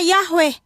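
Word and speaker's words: Yahweh: Yot heahwe ini kitab amsal teman-teman dan ini kitab Mazmur ini ada namanya huruf palo Ibrani yod yod yod he wau he yang dibaca atau pelafalannya Yahwe ya.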